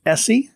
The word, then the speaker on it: ESEE: final story in knife life news comes from essie i i finally i think learned how to pronounce that one bob e-s-e-e essie is that right yeah that's right it's essie